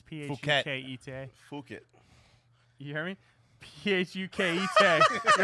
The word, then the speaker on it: Phuket: I'm sure "fuck it" is not the right way to say it, but it's Phuket.